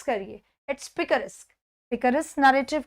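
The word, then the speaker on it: picaresque: है, किसका एग्जाम्पल है, क्या वो पिकारिस्क, इट्स पिकारिस्क, पिकारिस्क प्रोनाउंस करिए, इट्स पिकारिस्क।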